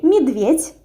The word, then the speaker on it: медведь: We say медведь, so with e and t, but we write медведь.